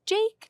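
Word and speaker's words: JVKE: I chose a more modern bop, Golden Hour by, I think it's pronounced Jake. Do you know Jake, that? yeah, It is Jake? Okay. There's a V in there, and sometimes that confuses me.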